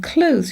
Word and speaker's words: clothes: is an interesting one, clothes now clothes used to be pronounced with the <th> similar to the spelling, but then became that habit of just saying 'clothes' like when you 'close' the door, put your 'clothes' in